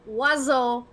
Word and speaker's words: oiseau: It's pronounced oiseau, but I'm going to, in the chat, spell how it is.